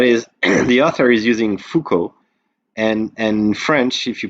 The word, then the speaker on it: Foucauld: left with ko but that's just the way we pronounce it in french foucault if you read all the letters you get fukud called cod that's a